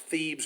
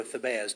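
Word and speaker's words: Thebez: the next town over which is either pronounced thieves or thibaz t-h-e-b-e-z and he does exactly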